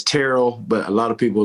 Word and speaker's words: Terrell: I mean, the default is, but yeah, it's Terrell. But a lot of people like to mispronounce it because you would think journalists and